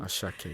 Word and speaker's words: Asake: Asake.